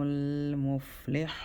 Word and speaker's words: المفلحون: If you don't have air, you're not saying it right.